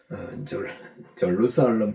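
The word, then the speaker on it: Jerusalem: 한글이나 영어로 보면 한국은 그냥 한국어로는 예루살렘, 영어도 그냥 절루살렘 이렇게 발음이 되는데요. 뭐 우리가 제루살렘 하지만 발음 기호를 이렇게 참고해서 정확하게 발음해 보니까 절루살렘 이렇게. 그런데 헬라어는 두 명칭이 있다.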